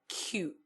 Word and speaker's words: quay: example of such is Quay which is pronounced as q here we represent the